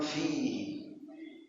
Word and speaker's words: فيه: Kitabun fi waktu baca fa harus keluar nafas, jangan kitabun bihi ini enggak boleh bihi fihi, harus bacanya waktu bacanya keluar nafas. Kitabun fihi.